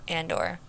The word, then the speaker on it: Andor: to that as a precursor to to the on door on door is that how you say it Cassian Andor Andor thanks I'm not good with Star Wars yeah